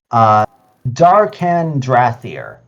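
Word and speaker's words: Dar'Khan Drathir: So I can find it first, but I just can't remember the pronunciation. Found it. Darkan Drathir.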